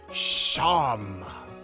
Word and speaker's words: Seam: The name Seam, pronounced Sham.